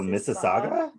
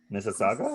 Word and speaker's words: Mississauga: mississauga it's like mississippi it's like mississippi it's like m-i-s-s-i-s-s and then it's a-u-g-a all right mrs so mississauga mississauga saga so sorry canada